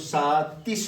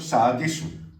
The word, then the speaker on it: سادس: ستة أصله سادس ولكن يصعب نطق تا فنغيرها دالا. نقول سادس نقول سادس. السادس فهذا الدال أصله تا صحيح.